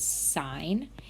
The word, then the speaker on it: sine: geometry you learned about the basic trig functions sine which we label SI n not pronounced sin please don't do that next year